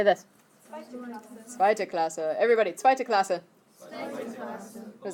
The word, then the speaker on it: zweite Klasse: Zweite Klasse.